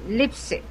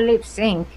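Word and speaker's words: Leipsic: Not lip sync, lipstick. Okay. It's spelled L E I P S I C. So, what is it? Lipstick. Lip Lipick. Lipick. Mhm. Okay. and he's the I in German anyway EI is supposedly I okay so he's the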